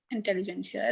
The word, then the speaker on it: intelligentsia: Intelligentsia. It's a T is silent there. Yeah, intelligentsia, it is pronounced like this.